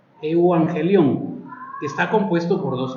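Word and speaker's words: εὐαγγέλιον: los latinos pero se se pronuncia como eu angelón eu angelón que está compuesto por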